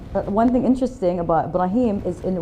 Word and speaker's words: Ibrahim: one thing interesting about Ibrahim is in when he used to live in America they used to call him Abraham now people are pronouncing his name properly after the show this is